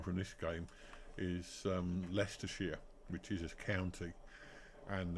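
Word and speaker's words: Leicestershire: America and in uh other European places his pronunciation um the one Springs to mind from this game is um leester sheia which is a county and there is a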